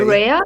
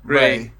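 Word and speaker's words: Rae: be honest, I summoned, how do you pronounce it? R-A-E, right? Ray. Rhea? Ray. Yeah. Great.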